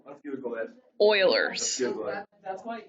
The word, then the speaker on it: Euler: used to think it was pronounced U. This. No. Oilers. Oilers. Oilers. Let's Google it. Oilers.